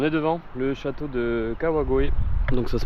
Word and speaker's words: Kawagoe: On est devant le château de Kawagoe. Donc ça se prononce comme ça, je vais m'enlever du soleil parce que ça me tape sur le crâne.